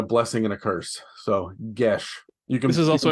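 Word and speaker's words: geas: is it Gaye it's however people G it's pronounced GES yeah g disgust me Adam it's GS it is pronounced GES it is I believe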